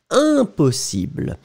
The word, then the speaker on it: impossible: So, it's a nasal, so it's un, impossible. You don't hear any M, you don't hear, you just hear the sound of the nasal.